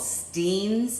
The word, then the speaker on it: Steen's: take this stuff called Steen's it looks like Stein's but his pronounce steams Steen syrup and he would pour